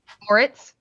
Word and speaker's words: Moritz: Moritz, do I pronounce it Moritz or Moritz? Whatever you want. The first one sounded good. Moritz?